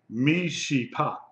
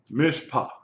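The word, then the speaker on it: מִשְׁפָּט: someone tell me why this is not pronounced meot or Mish second vow supposed to be okay you're kind of close but no cigar yeah okay the Shiva is silent it comes at the end of a syllable so the first syllable is meim hi she which is mish long eyes sound no short eyes sound Mish Mish and then you have the pat T Mish pa okay T makes a what sound t t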